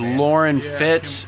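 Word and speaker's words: Loren Fitts: very top of the screen my channel is lauren fitz it's spelled l-o-r-e-n f-i-t-t-s um victor does have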